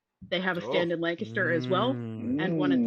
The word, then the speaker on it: Lancaster: But it is pronounced Lancaster, and I will fight you about that.